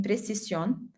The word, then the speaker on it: precisión: In Spanish, you have one S, like between two vowels, like in precisión, and you still say precisão, oh, precision with the S sound.